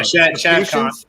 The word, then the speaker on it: Shad Khan: Yeah, Shad Khan.